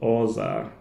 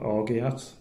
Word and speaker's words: orgeat: juice and some almond syrup, which is called orza. That's the proper pronunciation if you're from Yorkshire like I am, and I thought it was called orgeat, but obviously that's not the right way to